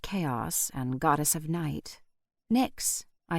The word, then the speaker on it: Nyx: "Nyx," I said aloud, and I could have sworn the kitten gave a nod of approval. I pronounced her name to rhyme with tricks, as she seemed like a tiny trickster.